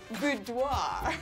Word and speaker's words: boudoir: Just give me a second, I'm just preparing the boudoir. Oh, you can never... The what? Boudoir. Oh, boudoir. Okay. Am I saying it right? You are.